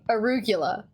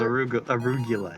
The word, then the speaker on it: arugula: Arugula. It's not. Nobody says arugula. It's arugula.